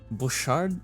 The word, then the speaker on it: Bouchard: Lauren book card bookard butchered Bouchard is it butchered well regardless I definitely butchered that name Bouchard Bouchard Okay Google says that it's Bouchard so that's what I'm gonna go with Bouchard decided to make Bob's